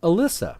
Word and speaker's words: Alyssa: We've got Alyssa, the healer. It pretty much sounds like it's spelled.